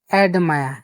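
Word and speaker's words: admire: অ্যাডমায়া, অ্যাডমায়া, এখানে লক্ষ্য করবেন যে আমরা আর এই শব্দটা উচ্চারণ হচ্ছে না, এই শব্দটা উচ্চারণ হচ্ছে অ্যাডমায়া।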